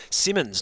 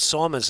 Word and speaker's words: Simmons: Jason Simmons, not Simons, as I was incorrectly pronunciating that one.